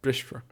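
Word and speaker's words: brisfear: And the same here with brishfer. Notably, it's said with a broad F, which seems like it breaks some rules, and it kind of does, but it's an exceptional case where this ending, this fur ending, is always said with a broad F in the dialect, or nearly always.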